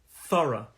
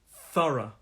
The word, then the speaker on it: thorough: the pronunciation of this this has two syllables thorough thorough and that these two syllables and the stress is on the first syllable the stress is on